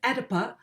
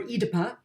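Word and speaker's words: Oedipa: Um but now I'm going to hold out for the American pronunciation here for a simple reason which is so her name is Edipa or Edypa as the female version of Edypus.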